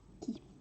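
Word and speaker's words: Χ: Et ça se prononce qui. C'est qui.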